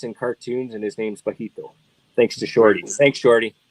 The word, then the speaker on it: Bajito: cartoons and his name's bajito thanks to shorty thanks shorty is it B is that how you spell it what's that ba Q UI o no b a j i j the J sound okay yeah yeah got